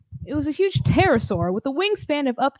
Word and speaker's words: pterosaur: There's a P and then a T. So pterosaur. You don't pronounce the P. It was a huge pterosaur with a wingspan of up to 13 meters, more than 40 feet.